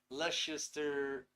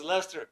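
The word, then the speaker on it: Leicester: from my past experiences ah pronounce Lester yeah there we go thank you David I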